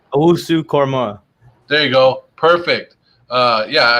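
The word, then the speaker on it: Owusu-Koramoah: Owusu Korma.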